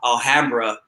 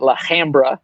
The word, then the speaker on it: Alhambra: You know that was traumatizing because Valentino didn't even give it the right pronunciation. He called it La Hambra.